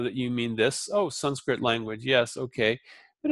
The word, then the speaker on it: Sanskrit: shocker some some script well often the a on the end is dropped because it's a short syllable so some script some script becomes son script and some script but it's not Sanskrit it's son script okay so if you